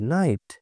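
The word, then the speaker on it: night: টা দেখে নেব আমরা আইজি এইচ এর উচ্চারণে জি উচ্চারিত হয় না যখন আমরা দেখব আইজি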